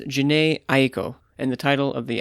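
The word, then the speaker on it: Jhené Aiko: manning from the present here her name is pronounced janae aeko and the title of the album is chilombo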